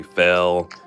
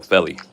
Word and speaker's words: Felly: They'll say Fell or or, and I'm like, no, Felly.